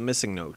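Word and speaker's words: MissingNo.: well-known glitch is the missing note glitch it's probably pronounced missing number but i've always said missingno and that's how everyone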